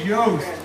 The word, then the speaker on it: Yost: farmer and he says my name is yost it rhymes with ghosts and sure enough he's